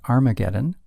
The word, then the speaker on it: Armageddon: and it will happen at Har Magedon, or as it's commonly pronounced, Armageddon.